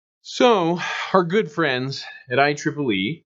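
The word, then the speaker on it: IEEE: signal dies you so our good friends at I Tripoli pronounced I Tripoli important name you need to know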